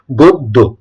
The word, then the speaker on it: গদ্য: গদ্য এটা গদ্য আসলে এটা কি হবে সঠিক উচ্চারণটা হচ্ছে গদ্য গদ্য ঠিক আছে ঠিক তেমনভাবেই রয়েছে এখানে দেখ